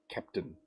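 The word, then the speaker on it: Kapton: It's actually just so you know, Adam, it's spelt K-A-P-T-O-N, Captain.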